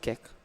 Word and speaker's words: QEC: You can pronounce it Kek.